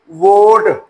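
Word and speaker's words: vote: ओ टी ई वोट अब यहां पर भी देख लें दो वोवेल के दरमियान कौन सा टी आ रहा है? ई की साउंड साइलेंट होगी। ओ अपनी लॉन्ग साउंड लेगा। तो वोट तो उम्मीद करते हैं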